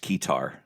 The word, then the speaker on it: keytar: to get a satar made out ofas it's pronounced kear I I do have a kear actually no